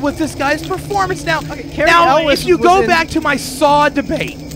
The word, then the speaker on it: Cary Elwes: Anyway, Cary Elwes. Was that his name? Elwes. Elwes? Cary Elwes. That doesn't sound natural, Mike. Is I that you don't sure that's how you say it? Yes, it is.